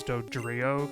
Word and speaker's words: Dodrio: Duo and DOD Trio I guess it should be dough Trio but it's dodrio because that's how they localized or whatever I don't know